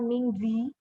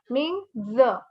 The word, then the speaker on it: 名字: The last I here is not pronounced. So there's no E sound or I sound. It's not Mingzi. Ming z. You leave z as it is. So we say Ming z.